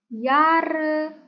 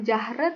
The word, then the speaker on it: Jahre: isbin seten yare jangan lupa bacanya bukan jahre tapi yar yar v do di mana